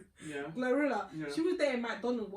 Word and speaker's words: GloRilla: Say I say like bro Glorilla.